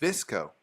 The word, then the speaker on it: VSCO: Visco. How do you spell that?